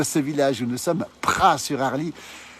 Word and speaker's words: Praz-sur-Arly: village où nous sommes Pras sur Harle ça c'estécrit avec un Z on prononce pas le Z s'appelle les pralins et